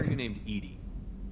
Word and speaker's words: EDI: are you named Edie? EDI is the phonetic pronunciation of EDI.